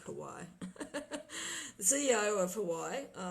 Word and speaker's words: Huawei: Well, people call it Huawei, I think. I think I'm pronouncing it wrong. I like Hawaii.